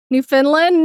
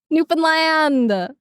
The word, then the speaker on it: Newfoundland: New Finland. No, Newfoundland. We do pronounce it Finn though, even though it's uh New Foundland.